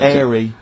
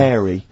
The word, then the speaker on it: hairy: H, or the H, or however it's I pronounced. had to, 'cause So it- airy, airy obviously kids, mean yeah. hairy.